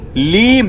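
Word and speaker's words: ह्लीं: कहते हैं ओम रीम, ओम रीम नहीं है, लीम है, ल ल ल ल, ठीक है, इट्स एल, ओम लीम बगलामुखी सर्वदुष्टानां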